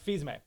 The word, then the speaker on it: Fils-Aimé: Fils-Aimé.